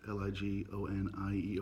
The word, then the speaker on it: Ligonier: I believe it's pronounced Ligonier, PA.